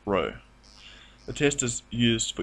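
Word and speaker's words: ρ: s or more generally the Greek letter P pronounced Row the test is used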